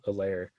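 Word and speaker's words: Helaire: people say clyde edwards a lair it's not like how is it like that because they'll be like clyde edwards hilaire and they'll say it with the h but there's no h oh yeah or the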